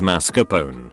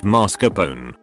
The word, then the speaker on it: mascarpone: That sweet Italian cream cheese used in desserts is called mascarpone, not mascarpone.